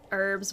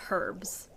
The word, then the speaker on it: herbs: this is honestly crazy why do american pronounce herbs without the e herbs without the e you mean without the h i'm not sure my parents say herbs i say herbs um this is calicula